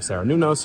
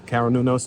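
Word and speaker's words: Cernunnos: And like the depiction of Saranunos or Karanunos, depending on how you pronounce it, is just absolutely gorgeous.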